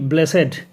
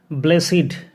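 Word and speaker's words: blessed: Sentence number 20, হি ইজ ব্লেসেড with some special qualities. সে বিশেষ কিছু গুণের দ্বারা আশীর্বাদ পুষ্ট। ব্লেসিড মানে হচ্ছে আশীর্বাদ পুষ্ট। সঠিক উচ্চারণ কিন্তু ব্লেসহেডও নয়, ব্লেসড নয়, বলবো ব্লেসিড, মানে আশীর্বাদ পুষ্ট।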